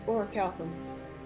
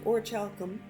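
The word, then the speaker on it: Orichalcum: orcish armor and weapons use or Calum you see people pronounce it differently use or chalum and a bit of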